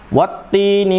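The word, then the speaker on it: وَالتِّينِ: Dan karena memiliki sifat al-hamsu, maka ada desahan di situ. Watti ya. Bagi para qura yang bacanya watti ya tidak masalah, silakan. Tapi kami lebih menggunakan yang memiliki efek ya, mendesisnya. Watti.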